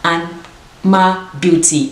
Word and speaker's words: Anmabeauty: The name of the company I'm partnering with today, it's called Anmabeauty. Anmabeauty. I'll put it on the screen just in case if I mispronounce it as well.